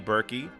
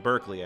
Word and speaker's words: Berkeley: dance numbers done by Busby berky sorry buzzby Berkeley I always say his name wrong and in that scene